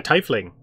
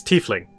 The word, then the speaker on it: tiefling: links season ol Dalton sage you see a type Ling rattling sorry I've been pronouncing it tight like you guys I'm smelling okay yeah it's tiefling it's how it supposed to be pronounced is